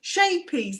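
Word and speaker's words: Scheepjes: tenuous link we do shapies that's it is that's how you say it it's dutch for little boat little boat yeah so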